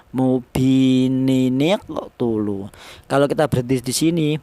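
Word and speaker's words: مُبِينٌ اقْتُلُوا: Cara bacanya mubininiqtulu ya. Ini jangan nin ya, tapi mubi ya, mubininiqtulu.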